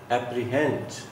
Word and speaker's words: apprehend: Apprehend. Primary stress is on her sound.